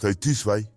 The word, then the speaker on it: zwei: So the Indo-European word duo became two in English and zwei, pronounced tiswai in modern German.